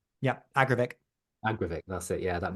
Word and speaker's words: Agravic: the Adidas is it the AG how you pronounce it agravic yeah agravic agravic that's it yeah that new shoe um